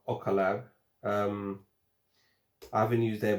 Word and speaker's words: Ocaleb: bit more um this one's made this is pronounced ocala um i haven't used their brand before but